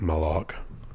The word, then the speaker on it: Malaugh: It's Malaugh.